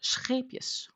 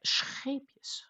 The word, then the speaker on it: Scheepjes: Scheepjes is a Dutch brand, so I should be able to sort of pronounce it. It has an R in it. It's not scheepjes, but scheepjes, because it's an R, and it's a little bit like saying Scheveningen, which is a beach